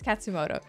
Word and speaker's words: Katsumoto: I swear I said the name wrong while I was reacting. Okay, it's Katsumoto.